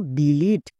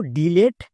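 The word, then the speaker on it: delete: যেমন দেখো ডিলিট এই ওয়ার্ডটিকে অনেকেই ভুলভাল উচ্চারণ করছো। কেউ কেউ উচ্চারণ করছো ডিলেট আবার ডিলিট। তাহলে কোনটা সঠিক?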